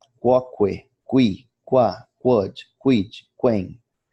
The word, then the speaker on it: quoque: O U do grupo QU é sempre pronunciado em latim. Quoque, qui, qua, quod, quid, quem, etc.